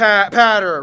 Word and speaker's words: Potter: we've been through this okay so it's it's like ladder but P patter right patter patter right p no